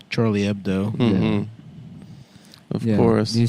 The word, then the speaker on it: Charlie Hebdo: Charlie Ebdo. Charlie Ebdo. Of course, you say, "Why don't you pronounce the H?"